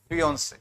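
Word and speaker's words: fiancée: सुनो पहले प्रोनाउंसिएशन करना सीखो। एक होता है फियांसे, एक होता है फियोंसी। फियांसे, फियोंसी।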